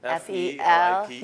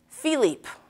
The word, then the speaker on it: Felipe: F-E-L-I-P-E. Yeah, there you go. Yeah, someone said Philippe. Yeah. Oh, man. Do you get that a lot? Yes. Philippe. It's Felipe. Like, it has the stuff at the end.